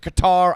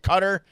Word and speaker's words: Qatar: now in in qatar i pronounce it qatar i don't pronounce it qatar i'll say that i